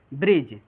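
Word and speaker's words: bridge: कि रूल कह रहा है कि जब डी के बाद जी आ जाए तो डी जो होता है वो साइलेंट होता है।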